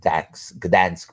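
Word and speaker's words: Gdańsk: in the shipyards of Dan Gans Poland uh the g is silent at first he was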